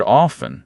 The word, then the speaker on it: often: And the word often, for most people, drops the T.